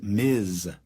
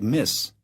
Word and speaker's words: Ms.: formal, be sure to address her as Ms. with a voiced Z sound. If you mispronounce it S, it sounds like Miss, which some people will find disrespectful.